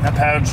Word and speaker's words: Hauppauge: Hauppauge. How do you pronounce that? Hauppauge, New York.